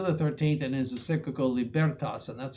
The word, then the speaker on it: Libertas: 13th and his cyclical libertas and that's how you pronounce that the accent is on the second syllable not libertas but libertas describes the statological mentality of many modern people with these words.